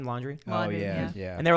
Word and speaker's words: Laundrie: Laundrie?